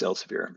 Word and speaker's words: Elsevier: It's remarkable, especially with some of these favorites of deniers like the Elsevier pronunciation. Where does this? Elsevier. Yes, Elsevier.